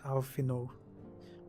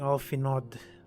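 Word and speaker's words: Alphinaud: Oh my god, it's pronounced as Alfino with a silent D. I keep on saying Alfinod.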